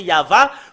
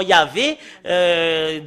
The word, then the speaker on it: Yahvah: dans la Bible hébreu tout à l'heure c'est Yava, quand on le prononce Ya, la première partie c'est Yava, la deuxième partie, et comment ça a été changé Yava, en Yahvé, d'après les catholicismes, pour les catholiques romains, et